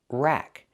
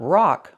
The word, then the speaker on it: rack: Pronunciation, rack. Use the short A sound like black cat. Not rock like rock and roll, but rack like black cat.